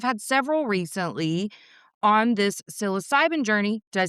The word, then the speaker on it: psilocybin: person, and I've had several recently on this psilocybin journey. Did I say that right? Yeah. Okay, yes. I've been working on the pronunciation, but I haven't had a female in a while.